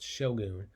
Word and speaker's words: shogun: of shogun i know that word looks like shotgun without the t but it's pronounced shogun ashogun was the commander